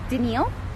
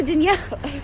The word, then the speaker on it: Danielle: clearly not that person most people don't even pronounce me right when I meet them everybody because I say my name is so fast people just I go hi my name is Danielle they go didn't yell you yell and I go no Danielle you're not a person named Emile I guess